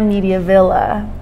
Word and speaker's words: Mediavilla: crypto a lot of if i say it with an accent which is how i say my name or mediavilla media villa there you go and